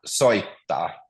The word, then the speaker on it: soittaa: But it's one word, so there's a double T there. So soittaa. Soita. Soittaa. So double T Soittaa. and double A.